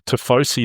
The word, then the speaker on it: tifosi: And just soak up the Ferrari fandom, the tifosi. Is that the correct pronunciation?